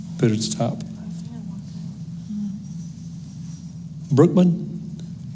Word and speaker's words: Brookman: Brookman. Did I pronounce that right? Brookman.